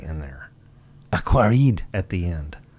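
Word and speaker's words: Aquariid: Aquaride. At the end. It's silent as well. Well, okay, so it's spelled aqua, R-I-I-D. Aquarid.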